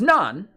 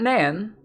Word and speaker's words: naan: for that long too so it's nonan not enhan not Nan nonan it it okay my